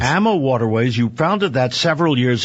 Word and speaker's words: AmaWaterways: you founded AMA waterways you called it Arma waterways is that how one pronounce it we pronounce it ammo waterways yes ammo waterways you founded that several